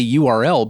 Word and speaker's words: URL: is well aware that most people say URL but is like screw that one syllable this is a thing that I have to talk about a lot it's an Earl get used to it fair enough to Jim's